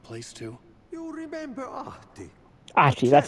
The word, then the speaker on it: Ahti: Ahti, that's how you say it.